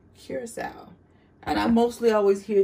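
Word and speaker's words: curaçao: your blue curacao now a lot of people like to call this karaka this is not karaka that word is pronounced curacao and i mostly always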